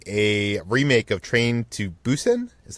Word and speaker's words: Busan: gonna be producing a remake of train to Busan is how you pronounce it Busan Busan and this is from the none writer